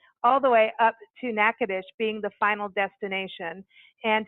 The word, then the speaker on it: Natchitoches: spell this out because how it's spelt out on how I'm saying it is two different things so it's n a TCH I TOC HGS comm so it's like nacho cheese and then we would